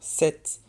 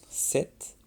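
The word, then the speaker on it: sept: Alors, comme vous pouvez l'entendre, 7, le P ne se prononce pas. 7, comme par exemple les 7 nains.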